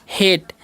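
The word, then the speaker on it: hate: तो इसे हम क्या पढ़ते हैं? हेट। ठीक है? इसे हार्टे नहीं पढ़ना है क्योंकि यहां पर भी वही रूल लागू होगा। पहले वाले वोवेल का उच्चारण होगा।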